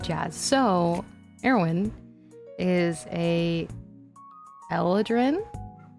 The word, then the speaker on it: Eladrin: so heroin is a Elin I think it's how I pronounce it other people pronounce it Aladin I don't pronounce it that way I pronounce it eladrin so that means that